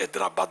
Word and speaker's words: حیدر آباد: اب جب بعض لوگوں نے اسلام آباد، حیدر آباد، تو یہ تھوڑا تکلف کر رہے، ایسا نہیں ہے، حیدر آباد بولو، مد بولنے کی ضرورت نہیں ہے، اسلام آباد بولنے کی